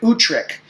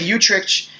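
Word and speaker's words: Utrecht: to give you guys it's the Treaty of utric which is actually a Dutch city where the treaty was signed it's spelled utr e CHT the Treaty of utric and the Treaty of utrich uh or utrick was really significant in terms of the colonial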